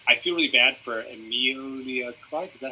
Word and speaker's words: Emilia Clarke: I don't like her at all, and I feel really bad for Emilia Clarke.